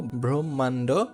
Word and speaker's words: ব্রহ্ম: হ্যাঁ, যেমন দেখো ব্রহ্মাণ্ড, ব্রহ্ম, ব্রহ্ম, এখানে একটা সাউন্ড আসবে, হ্যাঁ, ব্রহ্মদেশ, এখানে যে ময়ের যে সাউন্ডটা সেটা প্রকাশিত হয়েছে।